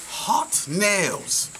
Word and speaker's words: Haute Nails: miller we're here in hot nails did i say it properly yes you did well the owner and